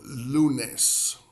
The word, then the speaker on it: lunes: Like saying the word Lou for someone named Lou, and then nes, which is almost like saying the word nest without the S. So lunes.